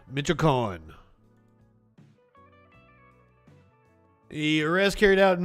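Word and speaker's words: Michoacán: Pronounce it for me. Michoacan. Michoacan.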